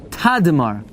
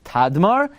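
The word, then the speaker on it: Tadmor: it's it's it's written t m and it's pronounced tadar fine tar that's what it says in now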